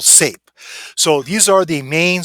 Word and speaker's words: Saiph: We'll put a thing right here, and with this one here will be called SAPE. It's spelled SAIPH. Okay, it's called SAPE.